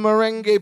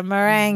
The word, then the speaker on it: meringue: He goes, oh, cousin, look, they have your favorite lemon merengue pie. Yeah, meringue. He pronounces meringue like merengue dance. The dance and the music.